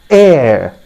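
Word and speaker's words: heir: it is written here air you can just see these are the sounds that are represented here okay so the correct pronunciation is air h is silent friends remember that that is very very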